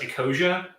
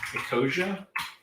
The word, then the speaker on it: Ecosia: Oh, there's one called, I think it's pronounced Ecosia, that plants trees. That one's fun too. Ecosia.